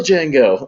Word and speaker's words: Django: no like the real django like he's right there and he goes like yes the d is silent yes i know i'm